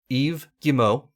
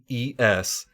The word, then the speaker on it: Yves Guillemot: He has so many silent letters in his name. His name is Yves Guillemot, and that is spelled Yvesguillemot. Yves Guillemot. And I realize that it's not an English name, but it's a French name. But I always thought it was so crazy how almost half of his name is silent.